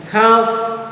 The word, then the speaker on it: half: Half, L is silent.